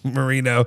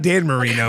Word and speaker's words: Moreno: Yes, Marino. Not Dan Marino. Marino. Like more like Moreno is how it's spelled.